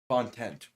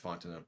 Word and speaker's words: Fontenot: Yeah, isn't it like Fontenot? Is that pronounce it? I knew how to pronounce it at one point in time. Yeah, it's Fontenot.